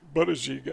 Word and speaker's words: Buttigieg: I never knew how to pronounce his name correctly. Buttigieg, I think it is.